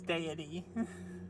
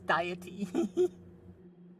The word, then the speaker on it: deity: think it's hilarious is how he he he uh pronounces deity he says diety it's cute although I